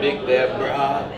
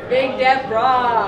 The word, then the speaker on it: Big Deborah: And the way they actually pronounce the name of the beer is Big Deborah. Big Deborah.